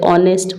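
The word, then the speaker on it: honest: क्योंकि इसको भी हम इसका एच नहीं पढ़ते हैं। ओ से शुरू करते हैं। ऑनेस्ट पढ़ते हैं इसको।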